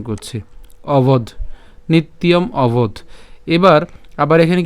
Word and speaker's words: নিত্যম: এরপর নিত্যম, ইয়ম কেন? এখানে কি আছে? জফলা আছে। আর আমরা জানি যে জফলা থাকলে তার উচ্চারণ কার মতো হবে? ইয়র মতো হবে। তাহলে এটাকে আমরা যদি ভেঙে উচ্চারণ করি তাহলে উচ্চারণটা কেবল নিত, জফলা উচ্চারণের জন্য হচ্ছে ইয়, এবং এখানে যে ম আছে তার উচ্চারণ ম হসন্ত, ঠিক আছে, নিত ইয়ম।